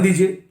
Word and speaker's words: the: ध्यान दीजिए, यदि कोई भी शब्द किसी कॉन्सोनेंट से शुरू और कॉन्सोनेंट साउंड से शुरू हो और उसके पहले डेफिनेट आर्टिकल लगाना पड़े तो टी एच ई का प्रोनाउंसिएशन होता द।